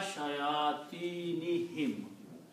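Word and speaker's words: شياطينهم: If ilah was not there, then this word will remain shayatinohum. both dhammas will remain there. Because of the ila, the sound becomes the kasra sound. So you will pronounce ila shayatinihim.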